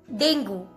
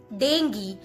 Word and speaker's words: dengue: Indian pronunciation, call it dengue. But when it comes in American pronunciation, people call it dengue, dengue. All right. So none of them are incorrect, all are correct.